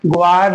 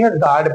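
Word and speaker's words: guard: ऐसे ही ग्वाड नहीं पढ़ेंगे, गार्ड पढ़ेंगे।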